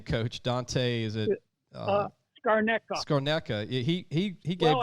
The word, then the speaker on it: Scarnecchia: Scarnecca. Scarnecca. He gave. Well, it might be Italian-wise, Scarnecchia. There you go.